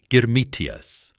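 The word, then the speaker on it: girmit: The workers were called germmitas from the word germmit which was their own pronunciation of the English word agreement.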